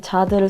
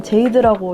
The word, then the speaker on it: Jade: 아무래도 본명으로 불리는 게 제일 편해서 제 프랑스 이름인 자드를 썼는데 이게 영어로 얘기를 하면은 제이드라고 읽어진단 말이에요. 그래서 아직 저를 잘 모르시는 분들은 제이드라고 많이 부르시는데 프랑스어로 읽어서 자드라고 합니다.